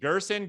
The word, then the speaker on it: Gerson: So it's actually how it sounds, Gerson, like the person, Hey, that's how I refer it.